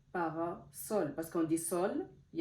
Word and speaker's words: parasol: sens c'est avec un S donc ça se prononce S parasol parasol parce qu'on dit sol il y a un